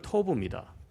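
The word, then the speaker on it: Tob: 돕의 원어 발음이 토브입니다.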